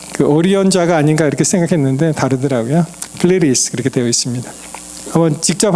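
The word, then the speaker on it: Pleiades: 이게 영어로 보시면은 우리나라 말로 플라이아데스라고 얘기하는데 그냥 영어로는 플레리스 그렇게 얘기합니다. 이 D를 이렇게 좀 게으르게 반영해서 그냥 그 가운데 있는 I를 갖다 E 발음해서 플레리스 이렇게 발음을 해요.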